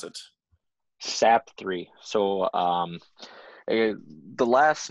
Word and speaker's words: Sapthre: so it's kind of like sap tree if you were to really try to pronounce it hard but it kind of flows a little smoother with sap 3.